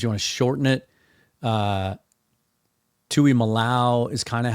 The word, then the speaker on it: Tuimoloau: It is TJ Tuimoloau. Just like it sounds, really, if you just sound it out.